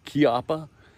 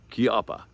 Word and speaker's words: Chiappa: uh little danger the chiappa uh i hope i don't know my wife said i was pronouncing that wrong so uh chiapa so all right pretty